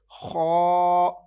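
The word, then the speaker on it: خ: So this one is kha. You will pronounce this letter with thick voice because kha is musta'aliya one, and don't move your lips. Okay, don't round your lips before while pronouncing musta'aliya letters.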